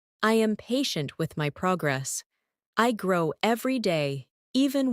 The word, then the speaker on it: progress: Progress, noun, versus progress, verb. Good.